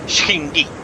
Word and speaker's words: Cindy: In the language of Phantasar, her name would be pronounced as Shindy.